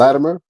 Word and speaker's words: Latimer: Latimer, which is where you say Latimer. I say it with a it almost sounds like a D.